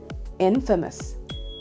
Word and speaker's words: infamous: Well, we might think it's infamous, but it's not. It should be infamous.